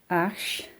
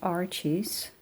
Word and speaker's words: Arches: I believe we should say ash and not arches. You know it is French.